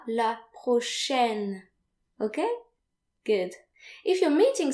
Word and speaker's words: prochaine: So note here that A and I are pronounced like AI in the English word said. So the letters AI, when they occur together in French, they're usually pronounced like E.